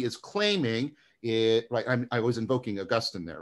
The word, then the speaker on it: Augustine: I'm trying to use the American pronunciation. You guys say Augustine. I was always taught Augustine, so I don't know what that's supposed to mean.